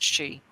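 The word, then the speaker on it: sith: one called the cat she it's spelled s-i-t-h but it's pronounced she which is pretty much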